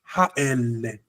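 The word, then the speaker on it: האלה: But in le with those three dots, the sound is much deeper. Ha ele. Ha susim ha ele. That's the natural way of pronouncing it.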